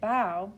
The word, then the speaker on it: bow: bow to the king so i knew to pronounce it bao because it was asking to do something instead of a noun where it said put